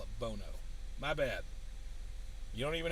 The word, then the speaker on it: Bono: So the locals would tell me don't call it Bono, call it Bono.